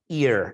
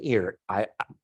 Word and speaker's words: Ir: So he builds this ear, is what it's called, like an ear.